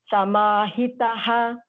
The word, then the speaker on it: समाहितः: So the visargam, so called the two dots, that borrows the properties of the previous syllable. So in this case, ta is short, so we will say ha also as short only. Samahitaha. That's it.